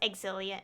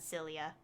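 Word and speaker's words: Xillia: exilia too you know what's interesting is it's pronounced exilia and not cilia and to even prefer to prove that i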